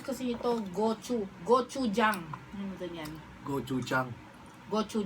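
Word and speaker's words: gochujang: yung Gong Chang sauce Gong Chang tubig natin Gong Chang ay yung ganito Gong Chang yan ganyan Gong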